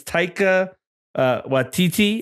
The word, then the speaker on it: Taika Waititi: I wrote his name because I never pronounce it right, but I think it's Taika Waititi.